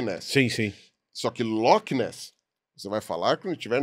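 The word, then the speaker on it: Loch Ness: é loes lo l aquele ch ali é pronunciado da maneira assoprada que nem na Alemanha então é o lochness Então temos aí a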